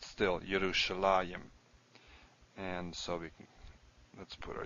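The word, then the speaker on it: ירושלים: There's a few cases we do see a yud here, but it's pronounced still Yerushalayim.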